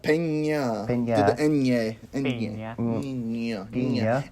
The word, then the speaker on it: Peña: But Jake Gyllenhaal's performance with, is it Michael Peña? Peña. Yeah. It's pronounced Peña.